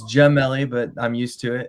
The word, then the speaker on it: Gemelli: It's Gemelli, but I'm used to it. It's been pronounced that way my whole life.